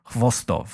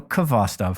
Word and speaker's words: Hvostov: It turns out the K is silent. You just give it kind of like a H kind of H. It's Hvostov. Hvostov. Yeah, no Kvostov, Hvostov. We actually took this one